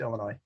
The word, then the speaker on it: Illinois: up december 2nd eastern illinois the s is silent it's illinois and december 6th against